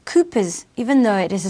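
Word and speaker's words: Cowper's gland: counters the acidic environment another accessory gland is kooper gland it is pronounced Koopas even though it is a strange spelling Koopa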